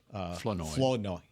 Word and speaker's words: Flournoy: Flournoy. Flournoy. Emphasis is on the second The syllable.